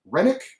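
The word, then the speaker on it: Hrenák: to look at is a man named david renick now it is spelled h-r-e-n-a-k he's 24 years old six with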